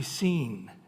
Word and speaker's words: Sin: And then if you say how do you pronounce s i n it's actually seen is the way they pronounce it.